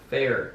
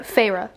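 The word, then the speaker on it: Feyre: And it just says, the 19-year-old huntress, Fair. Is that her? Do you want me to tell you how to say it? Farah.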